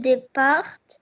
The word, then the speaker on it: départ: Le le départ en vacances. Le départ le départ à la fin du mot est une lettre muette. On la prononce pas, on la lit pas.